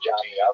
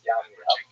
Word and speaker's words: Jamnia: So the Roman term for Yavneh is Yamnia, sometimes spelled with a J, pronounced Jamnia, but really it's Yamnia.